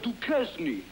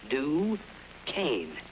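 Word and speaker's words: Duquesne: say I'll have a dues oh pardon me sir it's pronounced duain do Kan now try it d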